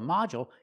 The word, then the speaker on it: module: is short mael and we see the D makes the J sound like juice and jump model du in the middle of the word usually makes the J sound so a module can be a lesson